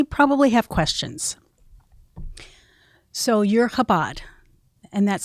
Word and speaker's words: Chabad: rabbis and they probably have questions so you're kabad and that's spelled c h a b a d kabad